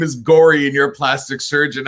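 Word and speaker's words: Gauri: that name, Julie, and that name is Gory. That's how it's actually pronounced, Gory.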